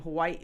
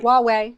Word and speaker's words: Huawei: we're bypassing the uh how do you say that company name? Hawaii. What is it? How Hawaii. Huawei. Huawei.